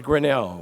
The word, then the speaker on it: Grinnell: that it was not Cornell, but it was Grinnell.